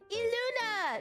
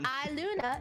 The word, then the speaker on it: ILUNA: of niji Sanji en eluna now you guys know how to pronounce it it's not I Luna it is foreign